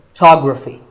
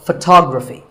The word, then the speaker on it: photography: So the first syllable becomes ph, and the stress goes to the second syllable, photography. So, photography.